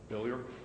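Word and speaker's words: Billieux: Billier. Billier. I'll spell it for you.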